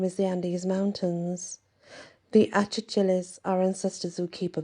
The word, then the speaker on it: Achachilas: The Achachilas are ancestors who keep a vigilant eye over their descendants, but they can also some people do actually pronounce them Akchakchilas. So, you know, there is a difference.